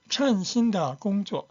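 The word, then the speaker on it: 称: 5번 5번은 발음 소심합니다 천신 신다신 마음에 드는 일자리 마음에 드는 어 직업 근데 천 할 때 때는 어 천입니다요 단어가 청후 할 때는 청이에요 c c 보통 사람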